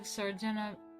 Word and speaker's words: Sardanapalus: So, Death of Sardanapalus, Delacroix's richly colored and emotionally charged Death of